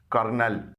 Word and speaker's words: colonel: یہ ایک ورڈ ہے کرنل, اس کی اسپیلنگ دیکھیے COLONEL. اس میں L ہے لیکن اسے R پڑھا جاتا ہے, اس کو کہا جاتا ہے کرنل.